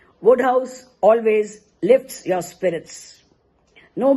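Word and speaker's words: Wodehouse: Sir Pelham Grenville Woodhouse pronounced Woodhouse defies superlatives.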